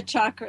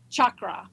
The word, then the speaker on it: chakra: it is Chucky Cheese chakra okay so it's chakra chakra not chakra okay I get so irritated when I hear Somebody pronouncing it wrong and everybody pronounces it